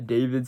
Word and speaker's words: D4vd: So today we're reacting to the David situation. I think I'm saying his name wrong, but I think it's D4vd something. But I think it's pronounced David, so I think I am saying it right.